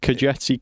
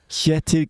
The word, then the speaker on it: Kjetil: Kajetsi Knutson.